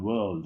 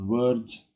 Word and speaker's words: world: Number 1, world. It's not words, it's worlds. The L sound is important. Worlds. You can speak the R, but it's very soft.